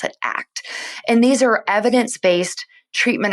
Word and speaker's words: ACT: which it's it spells out act but we pronounce it act and these are evidence-based treatment approaches which means